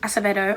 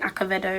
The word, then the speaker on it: Acevedo: First of all, it was written in verse, and if you're a fan of Elizabeth Acevedo, I think I'm pronouncing it correctly now because before I was saying Acevedo.